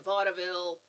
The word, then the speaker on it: vaudeville: Uh that people nowadays pronounce it with two syllables. Anybody who was in Vaudeville pronounces it with three syllables.